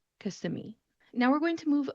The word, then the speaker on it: Kissimmee: Florida, and it looks like it should be pronounced Kissimmee. Kissimmee. However, that is not how we're going to pronounce this word. Instead, we're going to call it Kissimmee. Kissimmee.